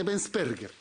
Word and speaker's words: Ebersperger: El único lugar que se pronuncia igual como que se escribe. Ebersperger.